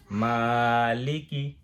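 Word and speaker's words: مالِكِ: আচ্ছা, আমি বলি, এবারে উচ্চারণ করি মালিকি। আমি একটু দেখেই করি মা এক আলিফ টান, মালিকি ইয়াউমিদ্দিন, দাল 3 আলিফ, আর কোনো টান নেই।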